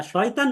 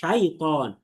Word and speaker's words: شيطان: দেখেন, মিনাশ শয়তান বলা যাবে না, বরং আরবিতে বলতে হবে মিনাশ শাইতান। এটাকে শয় বলা যাবে না। এই যে দেখেন নিচে শয়তান লেখা, কারণ বাংলা উচ্চারণে এই শয়তান লেখে না, লেখে শয়তান। তাহলে এই শয়তান যদি পড়ি তাহলে শয়তানের মতো এখানে পড়া ভুল হয়ে যাবে আমাদের। বুঝতে পেরেছেন? পড়তে হবে শাই, ত, শাই, ত।